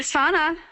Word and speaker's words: Sana: Hey, Sana, I'm so glad to see that you've joined us. Now, am I pronouncing your name correctly?